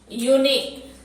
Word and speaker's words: unique: जैसे यहाँ था university, यूनिक, यूनिक, UNIQUE, यूनिक। यहाँ भी य का उच्चारण हो रहा है, यूनिक।